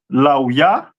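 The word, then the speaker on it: לוי: Ley which is pronounced uh laa.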